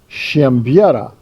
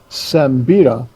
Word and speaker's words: Siembieda: did this once before, in Polish, my name is pronounced Siembieda, but there's no H in it, and it just confuses people. So we've gone with Siembieda for most of our life, and then this is Sean Owen-Roberson.